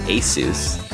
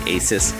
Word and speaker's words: ASUS: And yes, it is pronounced ASUS, like Jesus, but a lot of my friends say ASUS.